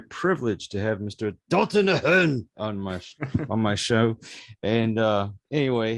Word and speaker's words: Ahern: In America, a lot of people will pronounce it Dalton Ahern, and I'm like, no. You got to put the flex on it. You got to put the Irish heritage to it.